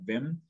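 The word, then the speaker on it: Wim: it's w-i-m uh and it's pronounced like with a v like vim and then hof hof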